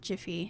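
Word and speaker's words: GIF: to call not now jiffy and yes i pronounce it jif so we can we can fight later but i'm sure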